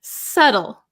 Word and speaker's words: subtle: bit difficult to explain subtle subtle silent be so delicate or precise